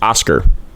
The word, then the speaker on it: Oskar: My name is pronounced Oskar. It is the normal pronunciation.